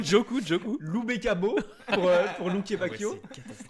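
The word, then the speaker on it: Doku: Dans Téléfoot, Jérémy Djokou, ou Djikou, je sais plus. Non, Djokou.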